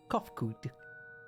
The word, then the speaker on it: Kofkud: As for nomenclature to address my individual person, I believe it would be pronounced Kofkud.